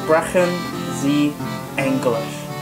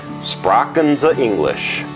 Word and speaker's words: Sprechen Sie Englisch: using the most is Sprechen Sie Englisch. Sprachen Sie English. That's a very interesting way of pronouncing it, but...